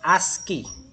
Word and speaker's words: ASCII: so that is we have the ascii ascii pronounced as ascii american standard code for information interchange it is